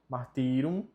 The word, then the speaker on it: martyrum: Sanguis Christi, fortitudo martyrium, o Y tem som de I, martyrium, martyrum, salva-nos.